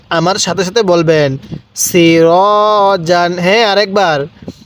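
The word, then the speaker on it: سِرَاجًا: আলিফ জবর র জিম আলিফ দুই জবর জান সিরাজান আমার সাথে সাথে বলবেন সিরাজান হ্যাঁ আরেকবার সিরাজান হ্যাঁ পড়ুন সিরাজান এরকম ভাবে শিখবো এরপরে সিন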